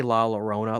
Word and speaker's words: La Llorona: I'd take La Llorona over The Nun, and at least try people to just say it correctly. Don't say La Llorona. Like, for fuck's sake, have some respect.